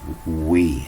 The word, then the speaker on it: oui: And it's oui, as in French, as in yes, the oui. Pronounces as we.